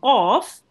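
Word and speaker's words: قاف: You will be pronouncing it with your mouth rounded a bit, and it will be pronounced from the middle of your throat. Okay, so qaf is a thick letter.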